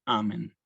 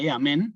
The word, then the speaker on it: Amen: ets hora mortis nostre Amén el Amén el acento no va en la Amén sino Amén Sí yo cuando